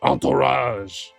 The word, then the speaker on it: entourage: Entourage. Entourage. That's how you say it.